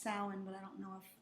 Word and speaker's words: Samhain: would officially be pronounced samhain but i don't know if they would pronounce it everybody says everybody says yeah but it's a celtic word yeah no i know